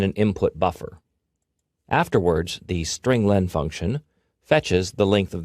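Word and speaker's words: strlen: appears at line 9 I pronounce it string Len because it means string length it Returns the number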